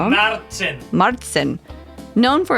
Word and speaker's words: Märzen: Sorry if I pronounced that wrong. Märzen.